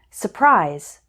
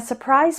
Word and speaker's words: surprise: by the fact that when speaking fast we often don't pronounce the R surprise forward February listen to how they sound in sentences we're planning a surprise party if I call